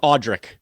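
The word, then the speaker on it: Audric: I added a e that's not there it's audri audri okay audri ese four points today all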